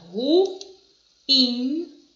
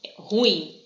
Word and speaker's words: ruim: muitas pessoas que falam ruim. Aquelas pessoas, é ruim, hein? Não é ruim, é ruim, tá? A gente tem um hiato, a pronúncia certa da palavra.